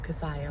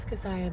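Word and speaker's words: Keziah: say my name wrong they always think it's Kesha it's casiah like Messiah with a K so I said no this is casaya but I'm only 10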